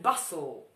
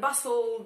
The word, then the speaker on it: bustle: Hustle and bustle. Hustle and bustle. Dwa razy te sobie zjadacie.